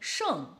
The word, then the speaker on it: 圣: The next one, holy, 圣, is that sound.